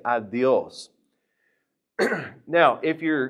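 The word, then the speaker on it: adiós: Now, notice adios has an accent on the O. And also, that D is going to be a little bit forward, too. Push your tongue a little bit forward and say adios.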